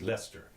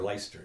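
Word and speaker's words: Leicester: you know you know and light Chester's pronounce this pronounce Lester or leister Lester or whatever it is it's interesting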